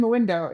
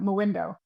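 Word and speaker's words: Mwindo: Or do I need to go find Moindo? It's it's spelled MW I N D O for anyone listening.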